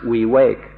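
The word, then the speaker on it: viveka: In Pali the word is va v i v e k a or we wake up and in Thai it's pronounced we wake.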